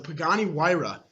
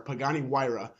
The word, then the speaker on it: Pagani Huayra: eight coming in at number eight is the Pagani Huayra and that is how you pronounce it so now it pretty knows because I know none of you knew how to pronounce it before Pagani Huayra I'd say twin-turbo 600 v12 if I'm not